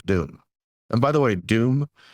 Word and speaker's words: DEWM: And by the way, Doom is spelled D E WM.